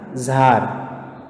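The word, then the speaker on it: Tsar: इसको तसार नहीं बोलते, दिस द प्रोनाउंसिएशन है इसका जार, टी साइलेंट है।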